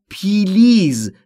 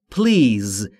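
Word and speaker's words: please: تلفظ پلیز دقت بکنید خیلی از زبان آموزا به اشتباه تلفظ میکنن پلیز یا پلیز این دو تلفظ اشتباهه تلفظ درست به این صورته پلیز بین پی و ال صدایی وجود نداره پلیز لطفا یعنی لطفا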